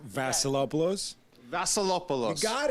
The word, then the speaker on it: Vasilopoulos: it right up say my name last name Vassalo blows that's a lot below got it you guys